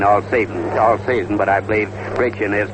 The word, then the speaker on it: Brecheen: Spud Krist, and Krist was later relieved by Brecheen, or Brecheen, however he pronounces it. It's a little difficult for me because I've been calling him Brecheen all season, but I believe Brecheen is correct.